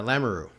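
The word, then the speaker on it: Lamoureux: you pronounce her name uh lamaroo I know it's and maybe she like because but this is how it's pronounced that's that's how the family pronounces it because Kevin lamaroo is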